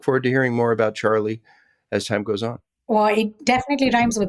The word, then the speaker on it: Charlee: to hearing more about Charlie as time goes on well it definitely rhymes with Lee that's right that's right